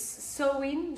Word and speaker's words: Samhain: Samhain? I don't know how you say it. Yeah, it's Samhain. Samhain.